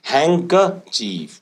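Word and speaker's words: handkerchief: एफ चीफ की spelling इसमें D silent है तो हम इसको प्रोनाउंस करते हैं हैंक चीफ डी साइलेंट है हैंकर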